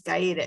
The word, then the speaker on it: Gaeta: guy the gators too they pronounce it gaeta in omaha but it's gaeda in italy but um so yeah